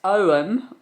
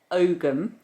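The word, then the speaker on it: Ogham: n um it shows the symbols called ogum pronounced om or ogum which is an early form of Irish writing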